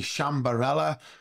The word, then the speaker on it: Sciambarella: so now it's time for our guest Luigi shambarella welcome to the show thank you thank you